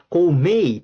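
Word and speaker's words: gourmet: 사업가 그리고 고메이 발음 조심하고 T가 소리가 안 나죠.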